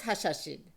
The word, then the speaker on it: Hashashin: Yes, the original pronunciation was Hashashin.